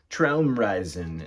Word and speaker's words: Traumreisen: The title's pronounced Traumreisen, even though his name probably is actually pronounced Michael Rother in Germany.